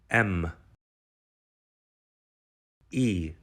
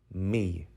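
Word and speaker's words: мій: word letter by letter m e yoth me me is how you say my in Ukrainian for example you can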